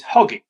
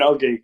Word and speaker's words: Oggy: So if you shorten my name Hoggard to Hoggy, and then you can drop off the H because we don't pronounce H's in Yorkshire.